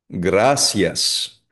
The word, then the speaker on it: gracias: Hindi po siya binibigkas na gracias na parang sh. Ayun, kasi di ba, sanay tayo sa Tagalog, ano, di ba? Gracias. Gracias. Hindi. Gracias. Para siyang SY.